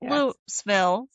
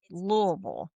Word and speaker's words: Louisville: But now if you come here, people will tell you you have to pronounce it correctly. This is not Lville. This is not it's it's Louisville.